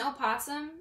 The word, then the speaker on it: opossum: He ran out the door a week ago to chase an opossum, and he never came back. Now, I know what you're thinking. Opossum? Yeah, that's how I pronounce it, the old English way.